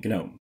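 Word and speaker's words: GNOME: genome to desktop environment yes we pronounced the G and genome when the genome project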